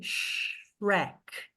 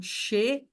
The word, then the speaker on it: Shrek: As pessoas falam xereque, né? Xereque. Em inglês isso não existe. Em inglês, quem chuta aqui quantas sílabas são? Tu, Shark. Uma. Uma. Uma. É Shrek. Shrek. Right. Então, assim, só tem uma vogal, gente. Só tem uma vogal, só é uma sílaba.